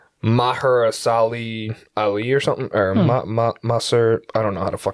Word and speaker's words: Mahershala Ali: it's a hard name to pronounce it's like maharasali ali or something or ma mustard i don't know how to pronounce it i like the other dude ali oh mahershala ali that's the name marshall ali um i'll show